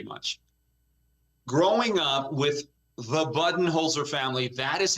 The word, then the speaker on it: Budenholzer: and all the media has been saying his name wrong because he's coach bud but everybody says buen holer how do you say his name okay okay